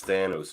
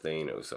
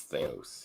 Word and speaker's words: Thanos: I'm gonna pick Like since we're talking about pronunciations, it's Thanos, not Thanos, Andre. It's Thanos.